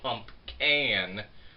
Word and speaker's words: PumpCan: I am actually saying this one correct because it's the PumpCan from Mad Tree Brewery.